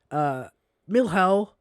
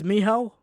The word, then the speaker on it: Mihal: We have a sniper called Milhal. Or is it? I don't know how to pronounce this. It's Mihal. Mm-hmm.